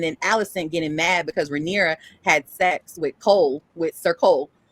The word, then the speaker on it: Rhaenyra: They were best friends at first, and then coming from best friends to Alicent marrying Rhaenyra. That's how you say her name, right? Rhaenyra.